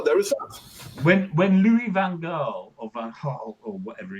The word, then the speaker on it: Van Gaal: manager Oh, of Manchester United, there was a months long debate about how best to pronounce his name, and he just came out and said, "Look, just call me Van Gaal." So we English call him Louis Van Gaal, even though a Dutch person would go, "Who?" yeah, Louis Verhaal.